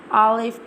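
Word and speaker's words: ألف: Today I'm telling the pronunciation of alif and alif to ra. How we'll pronounce the alif. Now I'm telling you how we'll pronounce the alif. Alif pronounced from the empty space of the mouth, and ba pronounced from the wet part of both lips.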